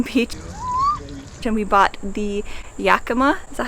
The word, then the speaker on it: Yakima: on a freezing beach, and we bought the Yakima, is that how you say it? Yeah, Yakima Roadshower.